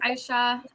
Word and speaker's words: Asha: everyone my name is Aisha um it's it's spelled Asha but it's pronounced Aisha so just a quick